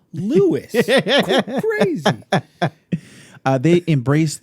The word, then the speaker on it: Lewis: plays the captain and you pronounce her name lewis yeah crazy uh they